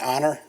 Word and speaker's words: Onur: community this is K9 honor it's onur but it's pronounced honor he's a three and